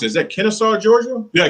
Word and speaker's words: Kennesaw: Kevin, out of how do you pronounce it? Is that Kennesaw, Georgia? Yeah, Kennesaw, Georgia.